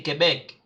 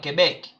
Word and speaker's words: Québec: But I'm gonna, when we do the sound, I'm gonna show you guys exactly how you pronounce them. Okay, in case you don't get it. So we say Quebec, Quebec.